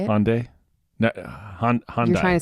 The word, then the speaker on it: Hyundai: I feel like Hyundai. Is that how you say it? Hyundai. No, Honda. You're trying to say Honda. It's not Honda. Hyundai. Hyundai.